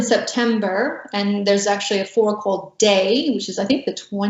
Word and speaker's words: fårikål: So tell me about Norway's national dish, which is, I don't know how to pronounce it, fårikål?